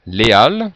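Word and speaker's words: Les Halles: de on he ici on dit bien Léal pour ce quartier de de Paris par exemple donc dans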